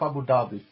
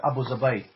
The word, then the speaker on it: Abu Dhabi: Dhabi and you know you guys don't pronounce it the way they pronounce it because you know you don't speak Arabic so they don't call it Abu Dhabi they call it oppose away so an opposed to